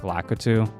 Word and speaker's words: Lakitu: who grow up Mario, they pronounce it like Lakitu. I don't really care for the pronunciation that much, but in Japanese it's pronounced like Kitu.